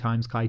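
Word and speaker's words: χ: Just one final note, I've used the pronunciation chi to refer to the function chi, but there's other sources that might pronounce it as key, kind of like the keyblade in Kingdom Hearts.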